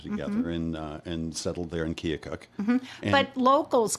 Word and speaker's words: Keokuk: So I told Joe Baer, I said, it's pronounced Keokuk, but locals call it Kilcook.